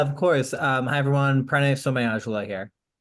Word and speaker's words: Somayajula: name and didn't want to assume how to pronounce it. So could you say your last name? Yeah, of course. Hi everyone, Pranay Somayajula here. Somayajula.